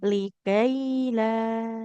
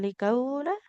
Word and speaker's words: لكي لا: تحزنوا Likaila. Bukan likaula.